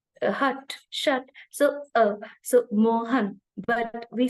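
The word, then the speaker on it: Mohun: shut so uh so moan but we say moan a m o h a n so it's m o hu n moan biswas so it I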